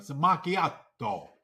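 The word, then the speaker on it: macchiato: exactly right and then even do the pronunciation of maacho Mak makato Mak I'm even saying it right makiato that's right just give me that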